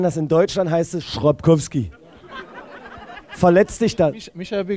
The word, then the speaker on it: Chrapkowski: Die korrekte Aussprache ist Piotr Chrapkowski. Ja, das ist korrekt. Nicht, warte, Piotr Chrapkowski. Piotr Chrapkowski. Chrapkowski, nicht so lange, nicht so lange. Ach so, Chrapkowski. Chrapkowski.